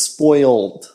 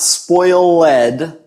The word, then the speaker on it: spoiled: So, the pronunciation is spoiled. Okay? It's not spoilled because it's got the L at the end. So we pronounce it as a D sound there as part of the syllable just a continuation.